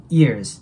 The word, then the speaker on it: years: years ago ですね years ズズていう Z の音で終わってその後 AG です